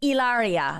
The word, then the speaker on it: Hilaria: and I was like is it Hilaria and he was like ilaria and I go oh